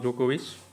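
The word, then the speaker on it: Djokovic: जाता है तो नोवाक जोकोविच है ना डी यहां पे साइलेंट है तो ऑस्ट्रेलियन ओपन में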